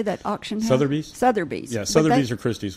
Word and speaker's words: Sotheby's: Sotheby's.